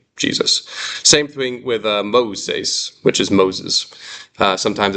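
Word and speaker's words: Μωϋσῆς: What that is doing is it's splitting these vowels so that the author makes sure that you're pronouncing them different. It's Moses. So that diaresis, those two dots, they're splitting those vowels. There's 3 syllables.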